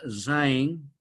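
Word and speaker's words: Sein: se llama en alemán que significa Entonces se pronuncia zin ser on igual que n en inglés on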